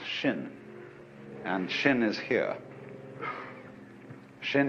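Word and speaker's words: 心: mind in chinese's mind is um this word pronounced shin and shin is here Shin is the heart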